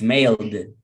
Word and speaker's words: mailed: And again, I still write the ED rule, right? Todavía los escribo con ed, pero no los pronuncio con ed. It's mailed.